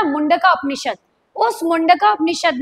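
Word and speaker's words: Mundaka: मुंडका उपनिषद से। उसे मंडका भी बोला है। मुंडका उपनिषद है। पर्टिकुलरली संस्कृत का शब्द तो मंडका भी कह सकते हैं क्योंकि इंग्लिश में प्रोनाउंस वैसे ही कर रहा है।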